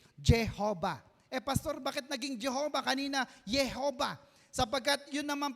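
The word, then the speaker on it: Jehovah: eh Pastor Bakit naging Jehova kanina Jehova sapagkat Yun naman pong J is pronounced y in German so pinalitan lamang po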